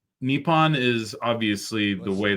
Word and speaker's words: Nippon: Yeah, so from what I Uh, understand, it's Nippon is obviously the was- way that people yes.